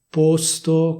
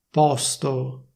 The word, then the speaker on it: posto: Teoricamente bisognerebbe dire così, cioè posto con la O chiusa. Questa sarebbe la pronuncia ufficiale, quindi porre, posto. Però se vuoi sembrare più figo oppure più figa e parlare come si parla a Milano, puoi dire posto con la O aperta.